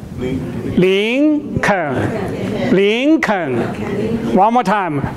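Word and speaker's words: 林肯: But it's Lincoln. Lincoln.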